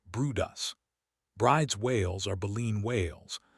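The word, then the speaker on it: Bryde's: On 10 separate occasions, they spotted a group of elusive whales known as bride's whales, pronounced broodus.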